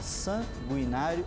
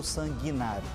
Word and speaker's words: sanguinário: aqui apenas a pronúncia não se usa o trema no U em sanguinário as duas pronúncias estão corretas eu posso dizer tanto sanguinário quanto sanguinário Vale também para as